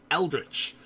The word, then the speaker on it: eldritch: I know I know the correct pronunciation is eldritch however eldritch doesn't sound like a name Elle rich does like you know mr.